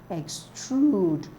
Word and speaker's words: extrude: so I'm going for extrude oud is a long oo sound so it's stretched on the second syllable that's how I get